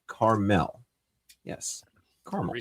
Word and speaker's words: Carmel: It's the mountain in northern Israel and is pronounced Carmel. Yes, Carmel. Are we saying caramel? I'm I'm calling it caramel anyway.